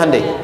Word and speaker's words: Hyundai: Sehingga ketika di sana bikin Honda, sini Hyundai. Hyundai kan dibacanya Hyundai.